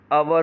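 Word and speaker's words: hour: आव, इसमें एच लगा हुआ है लेकिन एच जो है वो साइलेंट होता है, इसलिए आवर हो गया आवर।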